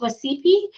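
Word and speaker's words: Wacipi: I think it's pronounced Wasipi, to celebrate our Native American graduates.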